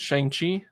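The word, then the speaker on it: Shang-Chi: disney took shane how do you say it shang chi yes shangti shang chi spot in july with black widow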